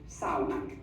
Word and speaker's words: sauna: That is one thing you have adopted from our language, and we say it sauna.